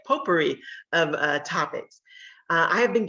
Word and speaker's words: potpourri: So tonight's Travel Talk is kind of a potpourri, that's how you say it, potpourri of topics.